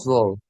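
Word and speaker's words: zwölf: Sul, Itu tadi itu yang 12 itu O umlaut. Jadi dibacanya kayak perubahan O ke U. Jadi 12, 12 Zul, gitu.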